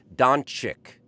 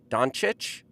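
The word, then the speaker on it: Dončić: other doctors and participate in this show okay doncic doncic doncic luca doncic andy mclean corrected me on the pronunciation of the uh slavic phenomenon luka doncic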